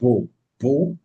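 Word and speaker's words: בוא: Bo is written with a bait and a vav in Hebrew, pronounced as Bo.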